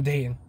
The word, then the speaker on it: Dayton: that name but i'm dating i don't pronounce the t in my own name all right so but